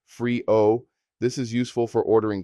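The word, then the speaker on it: frío: Cold is frio pronounced freeo.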